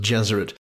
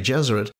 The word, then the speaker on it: Gesserit: It is no accident that the pronunciations of Gesserit and Jesuit are similar, as he envisaged his maternal aunts and the Bene Gesserit of Dune as female Jesuits.